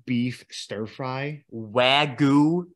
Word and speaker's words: Wagyu: And either week, I had this Wagyu beef stir fry. Wagyu? It's, yeah. I don't think that's how you say it. It's Wagyu beef.